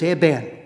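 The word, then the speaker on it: אבן: He says, "Would I be right in saying that the word stone, which is Eben, the word stone in Hebrew starts with a quiescent letter or a silent letter?"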